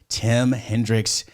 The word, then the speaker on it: Tim Hendrix: we got my buddy tim hendricks and on the podcast i said that i butchered your name or did i say it correct nailed it nailed it awesome like like jimi hendrix like rock and roll